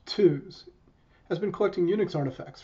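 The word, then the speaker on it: TUHS: second group is bit savers unisys or society pronounced two's has been collecting UNIX artifacts for almost two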